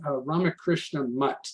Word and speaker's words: Ramakrishna Mutt: So in Chennai, first we visited the Chennai Ramakrishna Mutt. That's the way that's pronounced.